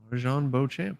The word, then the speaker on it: Marjon Beauchamp: Marjon Beauchamp. Yep, that's it.